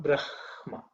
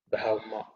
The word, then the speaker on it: Brahma: Okay, not Brahma. Brahma. So the ha sort of is more down in the chest.